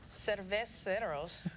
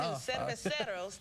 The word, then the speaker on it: Cerveceros: And the crew will celebrate Hispanic heritage with Cerveceros. See, I said it wrong too. Cerveceros Day on July 1st and pay tribute to the Negro Leagues on August 12th.